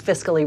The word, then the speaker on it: fiscally: college you know so remember unless there's only one syllable before c-a-l-l-y then the a is silent and that's with most